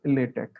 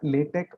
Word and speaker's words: LaTeX: And it is generally pronounced as LaTeX or LaTeX, right?